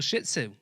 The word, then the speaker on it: Shih Tzu: you got a little shih tzu by a girl so my little his name is Todd he's a little Shih Tzu emphasis on the first syllable of that he's he's adorable however he